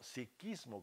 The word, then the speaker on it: sijismo: principal porcentaje se encuentra el sijismo también pronunciado como siquismo con k Mira esto es muy